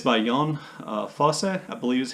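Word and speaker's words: Jon Fosse: name and it's by yon uh fosse i believe is how you say his name or the norwegian accent in america we just say john fosse that's what his name looks like uh it's called the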